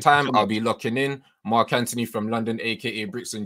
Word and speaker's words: Anthony: And in London, we pronounce the H. We don't pronounce the H. Okay. It's Mark Anthony. Okay. Hey, man. No, Mark Anthony. I had to correct all the Americans when I lived over there. No, it's Mark Anthony. The H is silent.